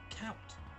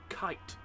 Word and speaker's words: Kuyt: Next one is a Dutchman whose name can be pronounced in either of 2 ways, and I've done a special informative video of how you can say it, and here it is. Count. Kite. So there we go then.